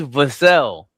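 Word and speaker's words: Vassell: His name is Vasel. Vassel does not last name is not rhyme with Castle.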